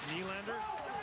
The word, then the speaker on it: Nylander: In Swedish, N-Y is knee, like Nylander.